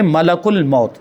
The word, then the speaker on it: ملک الموت: ملک الموت نکل گیا۔ ملک الموت یہ عام طور پر بول دیتے ہیں، عام بول چال میں ملک الموت بول دیتے ہیں، لیکن صحیح جو تلفظ ہے وہ ہے ملک الموت۔ ملک معنی فرشتہ اور